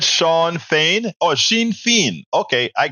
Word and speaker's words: Fain: It's same phonetically. Sinn Fein, but I said Shawn Fain.